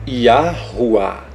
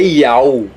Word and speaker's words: Yahuwah: Ou seja, Yahuwah. Não é Iau. Como é que você vai dizer Iau? Cadê a outra pronúncia aqui do H? Não tem. Então é herege quem ensina que a última letra não tem som.